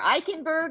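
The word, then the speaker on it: Eikenberg: today eichenberg uh that's the am I pronouncing your name in the right way you are eichenberg like I can yes okay okay so that's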